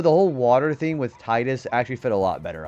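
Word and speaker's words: Tidus: You're a Tetas truther. I mean that's actually how it's pronounced in Didia. Yuna even calls him Tetus. Even though the whole water thing with Titus actually fit a lot better, I think.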